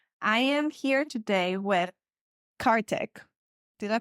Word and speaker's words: Karthik: Taboo with Mimi I am here today with cark did I pronounce it correctly it got it right yeah